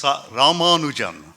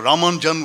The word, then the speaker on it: Ramanujan: And it is Ramanujan. So, and if you want to pronounce it in an authentically Tamil way, then you could feel free to drop some vowels. So Ramanujan would be fine, or Ramanja would be fine.